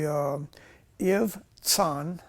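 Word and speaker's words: Ibzan: It's it's literally u if son, okay, it's like a ts sound. It's not a z, it's a ts.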